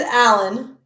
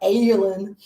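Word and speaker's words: Aellen: is how everyone voted it is alan it sounds like alan but it's about pronounced or looks like aylin or alien or however you want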